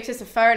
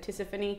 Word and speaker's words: Tisiphone: You can also say Tisiphone, I've heard that before, but my teachers always said Tisiphone.